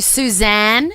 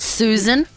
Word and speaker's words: Suzanne: do you love that I called you Suzanne and not Susan thank you don't you